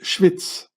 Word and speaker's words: Schwyz: In German you say Schweiz, but in Swiss German you say Schwyz, which means Schwester der Isis, Schwyz.